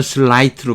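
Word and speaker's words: sleight: 이거 슬라이트로 발음합니다. 이 아이가 아이로 발음되는 건 그렇게 많지 않죠.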